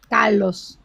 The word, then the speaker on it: Carlos: Say it for me so I know how to say it correctly. Carlos. I know. Exactly. Not that. Don't even put the R. Don't even bother with me.